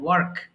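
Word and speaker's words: work: যে প্রোনাউন্সিয়েশন আছে, আমরা ব্রিটিশ উচ্চারণে আরটাকে অত গুরুত্ব দেওয়া হয় না। সো এটাকে ওয়াক বলতে পারেন, ওয়াক, যেটা আমার শুনতে ভালো লাগে না। এই জন্য আমি আমেরিকান এক্সেন্টে ফলো করি। এখানে আর এর উচ্চারণটা ভালো করে করলে আপনার ওয়ার্ডটা আরো সুন্দর শোনা যায়, ওয়ার্ক।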